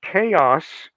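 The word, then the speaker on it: Xaos: most any version and it's called chaos but it's spelled in the classical greek matter manner x a o s the x is capital and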